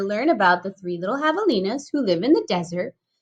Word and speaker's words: javelina: you the Three Little Javelinas. Javelinas. Ooh, that's a tricky word, huh, Ron? Let's count it out. Javelina. Whoa, how many syllables? Javelina. How many? 3. 4. 4 syllables. Javelina.